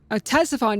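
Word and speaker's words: Ctesiphon: Strange and troublesome city of Tessifon. Tessifon. That's how you pronounce it.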